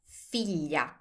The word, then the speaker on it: figlia: Now, if you want to say daughter, that's figlia.